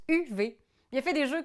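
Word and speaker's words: Uwe: oui c'est ça u UV Rosenberg c'est un auteur de jeux ça se prononce UV il a fait des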